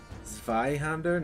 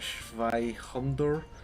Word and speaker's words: Zander: he's being awfully presumptuous it's Zander not shander that's not how I pronounced it I maybe I